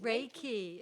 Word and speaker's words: Reiki: Reiki. It's Reiki is the spelling. It's a Japanese word. And broken down into two syllables, the REI portion, you can pronounce it Ray, like RAY, means universal life force, and the key portion is energy.